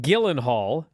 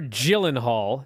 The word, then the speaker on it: Gyllenhaal: the way you know what's funny what jake gyllenhaal or gyllenhaal depending on how you want to pronounce it uh you know what he plays